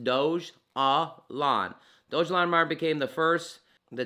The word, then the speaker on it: Dogelon: is after the city mars's capital um dojolon pronounced doge ah lon dojolandomar became the first the ticker is elon